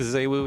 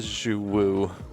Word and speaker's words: Xu Wu: Um, I believe Zoo is how the characters in game pronounce it. Um, no. I'm not going to call it Zu Woo.